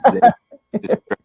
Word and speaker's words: Xavier: I'm like, "Listen, dude, it's Xavier."